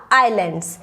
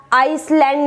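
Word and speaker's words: island: next one इज द आईलैंड यह इस length आइसलैंड नहीं बोला जाएगा यह कहने का यह लैंड बाय बोलकर साइलेंट है द प्लेयर लिस्ट लर्न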